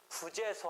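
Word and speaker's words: 부제소: 하여튼 그런 상황에서 부재소 합의라고 이 불로 또 발음하지 말고 이때는 부로 발음하지 부재소 합의 소재기하지 않기로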